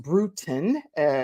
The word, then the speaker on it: Brutin: brutin is pronounced brutin like kind of brewing a tea type of thing and she is a